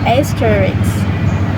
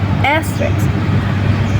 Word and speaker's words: asterisk: Another example is asterisk. The correct form is asterisk, but people often pronounce it as asterisk. The R sound disappears because S and R are too similar in this position.